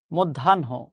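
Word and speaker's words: মধ্যাহ্ন: শব্দটা হচ্ছে মদধানহ। মধ্যানহ। ঠিক আছে।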